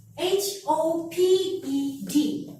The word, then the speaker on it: hoped: Because when we have the word like this, we have HOPED in here. And when we have to pronounce it, we have to throw away this without E. So it becomes hoped.